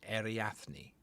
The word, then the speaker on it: Ariadne: You have no idea what that means, but that's how you pronounce it, Ariadne.